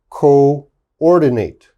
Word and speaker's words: coordinate: says double o but the double o they are pronounced separate okay they are not pronounced together so this word is co-operate co-ordinate cooperate coordinate okay so